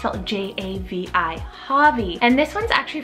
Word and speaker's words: Javi: familiar i love this one it's the name javi j-a-v-i javi and this one's actually from the name